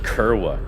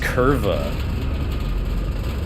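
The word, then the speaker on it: kurwa: Like you said Kerwa. Kerwa? Was ist? Bro, I gotta piss soon. I gotta go pee-pee. This game is too scary. It's pronounced curva.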